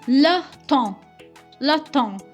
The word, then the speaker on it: temps: Next is le temps. Here P and S are silent, it's not temps. So it is le temps means the time.